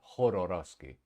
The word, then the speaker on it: Jodorowsky: He pronounced it Jodorowsky.